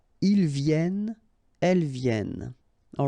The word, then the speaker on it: viennent: All right, and then ils viennent. So remember, as usual in French, when we talk about conjugation, E-N-T at the end, you don't pronounce it here.